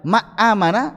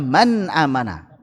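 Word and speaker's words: مَنْ آمَنَ: Kalau dibaca ma amana enggak enak, idam. Atau man amana enggak enak. Maka man amana itu yang paling tepat, paling ringan.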